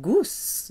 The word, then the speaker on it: gousse: Hacher, and a clove is une gousse. It rhymes with ousse.